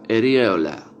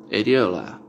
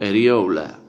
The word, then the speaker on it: areola: Y la palabra que está a la derecha de ese par es la palabra areola, areola, o también se puede pronunciar como areola, areola.